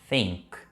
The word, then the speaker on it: think: Think, think, something, something. Perceba que eu estou colocando a língua no meio do dente, mas de uma maneira muito sutil.